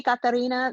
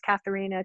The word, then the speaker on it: Katarina: Oh, if you can say Katarina, that's originally my name, but otherwise Katharina, Katrina is fine.